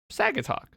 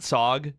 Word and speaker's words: Saugatuck: SAG talk. It's actually SAG, not SOG, even though it's s a u g.